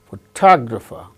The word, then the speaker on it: photographer: fourth syllable gains stress similarly photograph photographer photograph in the case of the word photograph the first syllable gains stress the case of the second word photographer second syllable gains stress so word stress is